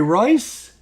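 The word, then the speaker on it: Reuss: Pronounced Jerry Royce? That's Jerry Royce. All right, Jerry Royce. Well, okay, Jerry Royce. Like is in Rolls Royce.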